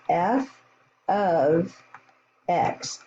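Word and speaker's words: f(x): this notation it's pronounced f of x it doesn't mean f times x it means our function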